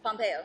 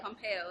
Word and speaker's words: Pompeo: us what's going on about Gray's Anatomy cannot pronounce her last name last name Pompeo Pompeo there you go she has done like Gray's